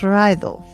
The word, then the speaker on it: Raidho: It's spelled r a i d h o, pronounced Raido.